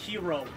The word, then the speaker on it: gyro: Whoa, did you just see that gyro just go up in the air like that? Yeah. It's pronounced hero.